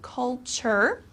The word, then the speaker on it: culture: be difficult to pronounce culture okay this t-u-r-e uh becomes kind of like a sh sound so culture is the way of